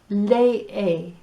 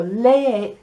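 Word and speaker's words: lee: and this word read lei it's spelt say escribe and each of the letter e's get uh get a sound so lei las preguntas the questions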